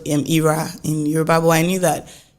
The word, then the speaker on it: Ayra: a name called Ira in EUR I knew that Nigerians would not pronounce it as Ira they not they not